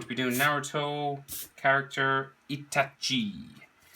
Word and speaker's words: Itachi: be doing naruto character itachi or as i like to say itashi i can't pronounce it i always say itashi um anyway landscape orientation